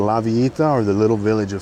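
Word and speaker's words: La Villita: or as a as one of the tourists called it, Lavalita, but it's pronounced Lavita in Spanish.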